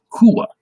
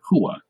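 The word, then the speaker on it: הוא: Okay, so the way you would pronounce he, the English word he in Hebrew is hua. Okay, hua. And there you have it. I put at the end there, hua.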